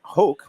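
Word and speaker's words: Hoch: and it was the year where Scott Hoke, rhymes with choke, missed like a 3-foot putt to Well, win.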